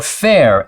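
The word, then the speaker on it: faer: Or fair, F-A-E-R, which is pronounced kind of like fair.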